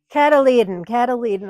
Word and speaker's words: cotyledon: Is that how I pronounce it? Did I do it right? No. Cotyledon. I practice that so much. Cotyledon. Those are the cotyledon. Yeah, you're right. Cotyledon.